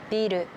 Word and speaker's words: ビル: 例えばビールとビル、おばあさんとおばさん、おじいさんとおじさん。